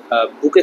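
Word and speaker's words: bouquet: আমি এটা মনে রাখতাম যে বউ মনে করো কুয়েটে পড়ে, তাহলে এটাকে উচ্চারণ কি বুকে।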